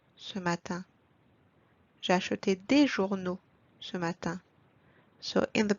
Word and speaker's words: journaux: is J'ai acheté des journaux ce matin. J'ai acheté des journaux ce matin. So in the plural, we need to add O to the noun. And the letter X is silent here.